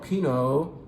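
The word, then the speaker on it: Pineau: of a grape called Pino Den Peno den and look at the spelling I'll get that closer to you you can see that Pino is spelled differently p i n e a u I'm not looking at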